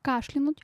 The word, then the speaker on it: кашлянуть: Мы с вами уже разобрались, что правильно кашлянуть от слова кашель.